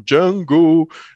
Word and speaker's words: Django: Exatamente, e tem o próprio Django no filme, né, que fala, o D é mudo, aí ele eu sei